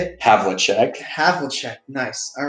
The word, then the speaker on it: Havlicek: Havlicek.